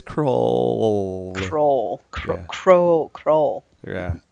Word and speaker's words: Krull: 248 this week's episode crawl that's how you spell that crawl it's it's raw it's kr ull it's the ARA ll know that that would be that would that would be crawl yeah yeah no it's cruel roll control crawl yeah